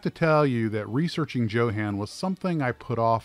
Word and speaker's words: Jo-Han: Johann, and my sources are adamant that it is pronounced Johann, not Johann, was a plastics injection molding company that was started by the late John Haenle in 1947 outside of Detroit, Michigan.